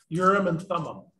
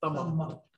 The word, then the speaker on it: Urim and Thummim: How do you say that again? Urim and? Urim and Thummim. Thummim. Thummim. Urim and Thummim.